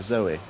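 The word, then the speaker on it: Zowie: And for Zawe. Zoe.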